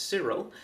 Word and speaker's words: Kirill: The Russian Orthodox Church has posted a speech delivered by head Patriarch Kirill (pronounced Cyril) that proclaims "feminism is dangerous".